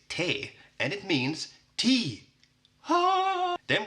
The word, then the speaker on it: T: Then we have the letter T, which is funny because it's exactly the same in Swedish as in English, but pronounced differently. So Swedish T is te, and it means tea.